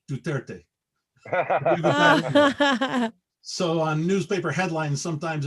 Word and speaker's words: Duterte: and the victim and their short name for his for his name is 230 which when you pronounce it is duterte so on newspaper headlines